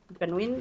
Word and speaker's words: Gunwin: I don't know how to pronounce that. Ganwin is correct.